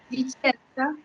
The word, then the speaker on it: Discenza: Vicenza.